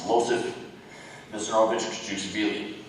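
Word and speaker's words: Iosif Vissarionovich Dzhugashvili: try to say this, Losif Vissarionovich Desugushvili. Why change it? What? Where did you hear that? It's common knowledge. Please answer. Well, first you pronounce it wrong. It's Losif Vissarionovich Desugushvili.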